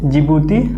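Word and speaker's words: Djibouti: यहाँ पर लिख लीजिए, जिबूती आचार संहिता, DEC, डी साइलेंट होता है जिबूती में।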